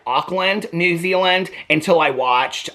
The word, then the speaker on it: Auckland: Now I gotta look up how do you pronounce Auckland. It's not Auckland. And so many people from my videos from Auckland, I pronounce everything wrong. Okay, Auckland pronunciation. Oh, here's this lady with her lips again. You can't see it, I know. Let's see it. Oh, I got the volume turned down again. Auckland. It says Auckland.